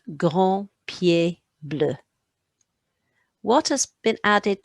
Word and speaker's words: pieds: You're not going to hear any of those S's, by the way, did you hear? 2 grands pieds bleus, but you are going to write them.